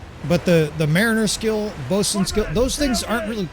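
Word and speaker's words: boatswain: Uh bosen it's bossn is basically the easiest way to pronounce bosen mate.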